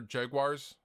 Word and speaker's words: Jaguar: I'm a big fan of Fender Jaguars. Also, notice I'm not pronouncing it like most Americans.